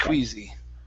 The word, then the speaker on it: queasy: it's going to be not just not just queasy not just squeezy okay very nice very nice